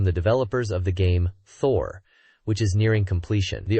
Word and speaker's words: Thor: They showcase a couple of fan illustrations and clarify that the game title Thor might have initially been confusing, possibly read as hope, but it is indeed Thor, pronounced Toa in Japanese for the international release.